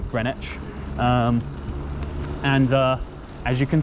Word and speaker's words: Greenwich: royal green witch observatory you definitely pronounce the w hard in greenwich and uh as you